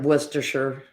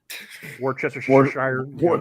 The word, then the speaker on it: Worcestershire: to admit that I I pronounced the same way Polly does worcestershire sauce go for the whole string of yeah it's like every syllable well it's really funny